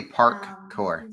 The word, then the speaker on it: parkour: And I think they all call it free running now, because parkour is it's sort of like the Xerox of the sport. And it's actually parkour.